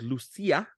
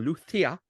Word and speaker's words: Lucia: the names here again, called Lucia or Lucia, if you're going to be talking with the proper Spanish pronunciation.